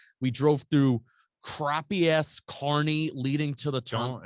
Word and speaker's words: Kearney: We drove through crappy ass Kearney leading to the turn. Don't insult our Kearney to listeners. or Kearney. Yeah, you've been calling it Kearney for all week. That's how it's spelled. It's Kearney.